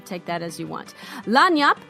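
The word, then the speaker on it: lagniappe: that as you want lonny up is pronounced as a French word lon Yap as a Cajun French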